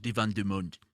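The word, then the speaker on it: Divan du Monde: Paris at a very old place it's called Divan dumund uh that's exactly how you pronounce it uh how do you put that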